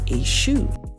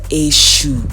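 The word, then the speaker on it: Èṣù: pompaguira and lord afrikaner represents a shoe or a shoe as typical yoruba people will say it so the pronunciation is often different now this scene depicts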